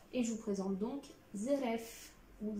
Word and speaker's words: Zeref: pour Fairy Tail, et je vous présente donc Zeref. Ou Zelef, ou Zeref, comme vous souhaitez le prononcer.